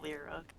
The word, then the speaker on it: Lear: Lear, pronounced Lyra.